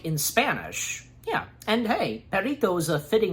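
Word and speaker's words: Perrito: I don't know, it's Perito. I think I'm pretty sure that I have been saying it good, Perito.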